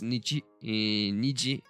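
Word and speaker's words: 二時: I'm not sure of it because the numbers have different readings, pronunciations when we are using them with other stuff. So it might change, but most probably it's Niji.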